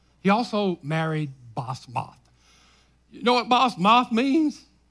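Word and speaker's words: Basemath: He also married, and the way you pronounce that is Basmath. He also married Basmath.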